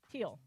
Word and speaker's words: Thiel: Teal. Oh, it's spelled T-H.